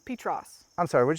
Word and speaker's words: Petros: you say it yeah it's not petrus it's petros i'm sorry would you